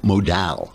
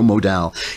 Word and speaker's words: Modal: the sun stuff lensing micro modal rhymes with pal micro modal it is softer than